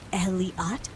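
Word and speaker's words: Elliott: From a nearby tent, Elliot, pronounced Eliat, recited a poem about the seas mysteries, while Harvey quietly admired the sunset content.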